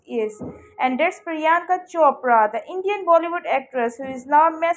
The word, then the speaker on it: Priyanka: are not happy however Andy struggles to pronounce priyanka's name correctly and calls her shanka Choy much to Adel charin